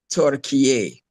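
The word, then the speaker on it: Türkiye: on Google and see what is the correct pronunciation for, you know, Turkey's new name. And the pronunciation I got was TURKIYE.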